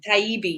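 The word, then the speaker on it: Taibbi: at a list of speakers Mike Rowe Matt Tybee is that how you say his name taibi yeah it's got a little EB in there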